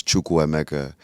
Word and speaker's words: Chukwuemeka: But the full pronunciation of my name is Chuku Mecha which means God has done something well.